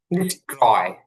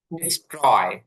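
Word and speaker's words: destroy: আচ্ছা, আরেকটা হচ্ছে এখানে আছে হচ্ছে ডিস্ট্রয় ধ্বংস করা। তো কি আছে এখানকার টিটা ঠয়ের মতন উচ্চারণ হবে না, কারণ টির পূর্বে যখন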